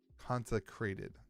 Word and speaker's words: Consecrated: The Consecrated Ground. Consecrated. No N.